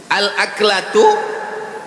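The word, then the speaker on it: الأكلة: Al-aklatu bifathil hamzah, cara membacanya hamzahnya baris atas, a.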